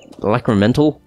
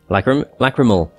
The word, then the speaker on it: lacrimal: I think it's like the lacrimental gland, isn't it? Or something like that. It is lacrimal, not mental.